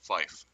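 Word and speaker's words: fife: and nine all right three pronounce phonetically is tree-like the thing with leaves on it five phonetically is flyff SI fe and nine phonetically is Niner alright everybody knows Niner now phonetic numerals are not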